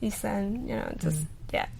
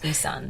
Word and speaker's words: Ei San: I mean, and, but then I would just be like, no, it's just Ison, just correct them, and if you correct them enough, they would get the hang of it. Yeah. I mean, 2 syllables, Isan.